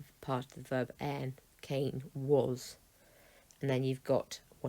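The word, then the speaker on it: Κάϊν: That's telling you you've got two syllables here, Cain.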